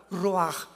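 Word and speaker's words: רוח: La palabra para espíritu en el hebreo es la palabra que es ruaj, que se escribe rua con ch, pero repito, ese pronuncio pronuncia como J. Roaj.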